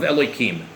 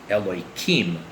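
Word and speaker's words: Elohim: Now it's actually not pronounced that way, but because I prefer not to actually enunciate and pronounce God's name in the Holy Tongue, in the language of the Bible, so we alter the pronunciation. So really, instead of pronouncing it with a k sound, it would be pronounced with the h sound. So instead of a k, it would be an h.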